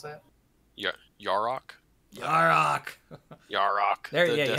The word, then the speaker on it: Yarok: You mean Yurok? Is that how you pronounce that? Yarok? Yarok. Yarok. There, yeah, you have to say it like, it's Yarok, like that.